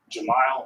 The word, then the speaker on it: Jamal: Jamal is pronounced like denial.